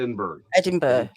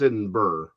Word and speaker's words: Edinburgh: edinburgh no that's edinburgh is it or is it in berg edinburgh so but it's not edinburgh i know because of the h it's in burr it's uh it's aluminum